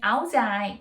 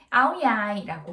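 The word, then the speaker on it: áo dài: 이야기를 나눠 볼까 하는데요 우리는 아오자이 라고 하자 그쵸 베트남 어른은 아우디 아이 또는 아우야 이라고 해요 제 북쪽 빨리 왠지 아이라고 바램을 하고 남쪽은 양 이라고 발음을 해서 9살 아이 또는 아우디 아이 라고 합니다 2 아 아이들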